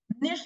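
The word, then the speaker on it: niche: निश को और प्लीज निश को ना नीच कहना बंद कर दो निश इज नॉट नीच भाई देखो प्रोनाउंस एशन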